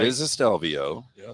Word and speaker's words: Stelvio: get it um first of all it's a stelvio right it is a stelvio yeah it's an alfa romeo stelvio and then